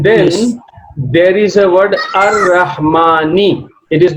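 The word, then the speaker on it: الرحمن: Lam is not pronounced because Lam is followed by a sun letter, Ra.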